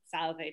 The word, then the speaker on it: salve: polite but very simple salve two syllables take it away ah